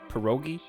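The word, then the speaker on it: pierogi: say that word how do you say perogi perogi you got it you said it right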